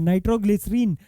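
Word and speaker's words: nitroglycerin: हालांकि ये इसका रोंगली प्रोनाउंस्ड नेम है। लेकिन आज के टाइम पे एक्सेप्टेड नेम है।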